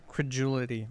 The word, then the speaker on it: credulity: this up c-r-e-d-u-l-i-t-y agility what is the word credulity credibility c-r-e-d-u-l-i-t-y credibility but isn't that just credibility how do you pronounce that jordan credulity and what's it mean